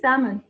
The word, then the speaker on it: salmon: And this is salmon. It's not salmon. This is a common mistake. It's salmon. All right? The L is silent.